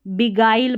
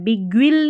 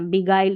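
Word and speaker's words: beguile: और देखें GUI के दूसरे उच्चारण हैं गाइल और गाइज, तो यहाँ पर देखिए इसमें बिगाइल पढ़ा है, बिग्विल नहीं पढ़ना, बिगाइल, ये ऐसे ही याद रखें, ठीक है।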